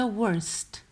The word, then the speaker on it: worst: Il comparativo di bad era worse, finiva in e il superlativo è the worst. E si pronuncia quella T finale.